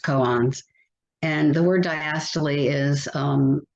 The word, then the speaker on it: koan: The word koan, I always thought it was pronounced cone, which is, a riddle, but it's actually pronounced koans.